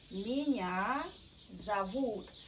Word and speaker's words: меня зовут: So it's important, pay attention on stress. Меня зовут. Also very good rule, pronunciation rule. We pronounce O without stress like A in every word you see. That's why we say меня зовут.